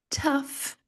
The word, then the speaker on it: tough: Sério, este símbolo aqui não existe no português. Ele representa um som que não existe no português. Ele é um som bem simples. Você deixa os seus lábios meio relaxadão assim, né? Ã, e baixa bem a mandíbula.